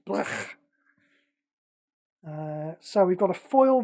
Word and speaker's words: Blech: Yeah, that's how it's pronounced. Blech.